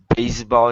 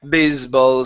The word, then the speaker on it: baseball: its base baseball slammed baseball is land ok almost so you're saying bisbal slammed with the Z sound so instead of Z's they are unvoiced s is ok so let's try the